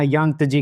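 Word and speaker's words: Yangtze: उसके बाद जजंते इसकी प्रोनाउंसिएशन देख लेना। यांगजी कहते हैं इसको।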